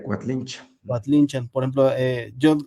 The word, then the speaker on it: Coatlinchán: Yo siempre sí, pero también se puede pronunciar como cuatlinchan algún en la época moderna pues la mayoría Cuatlinchan, Cuatlinchan, pero el nombre lo correcto sería Quatlinchan.